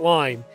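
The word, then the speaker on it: Lyne: And it is Lynn, it's not Line. It's L-Y-N-E. So I don't know if it's Line or Lynn. I'm going to pronounce it Lynn.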